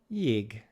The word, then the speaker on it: jég: And our word for today is jég, jég, which means ice.